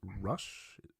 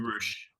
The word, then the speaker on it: Rush: So Dalton Castle lost in very convincing fashion to Rush. Did you pronounce it differently? I feel like they pronounce it Roosh. Roosh. Is that how you say it?